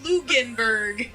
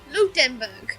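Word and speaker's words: Ludenberg: huh Berg but sure that y'all have lugan Berg I apologize for whoever this is their main language and I just butchered by lieutenant luden Luke den Berg it is it is my name but you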